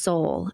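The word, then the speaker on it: Seoul: this gal went to I think it's pronounced soul I looked it up so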